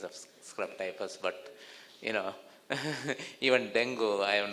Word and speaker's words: dengue: It should be pronounced as dengue. Dengue, correct. Everybody says dengue. Dengue, but it is dengue.